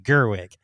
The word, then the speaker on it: Gerwig: I mispronounce it every fucking time, so that's okay. Gerwig.